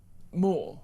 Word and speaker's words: Moore: Moore. Yeah. You see, I've been criticised for pronunciation of that today, but Gaza apparently is it's a bit beyond AI.